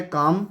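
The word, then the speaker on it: calm: Last है काम, इसमें एल साइलेंट है।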